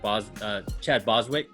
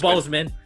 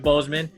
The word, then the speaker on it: Boseman: This is the homage to Chadwick Boswick. Chadwick Boswick. Did I say it right? Bozeman. Chadwick Boseman, and there is a cover D.